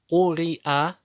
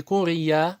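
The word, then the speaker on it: قرئ: Куриа. Не курия, а куриа.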